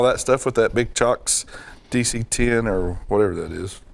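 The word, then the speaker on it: CIOKS: You know how I figured out that's how we use it's Chocks instead of Kiox? They make a pedal power thing called a chocolate bar. Oh. And it's spelled like that. And I was like, oh, well, I guess we're all just wrong the whole time.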